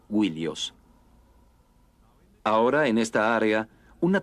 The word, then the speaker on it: Ilios: Troya y frecuentemente Ilios, originalmente pronunciada Willios.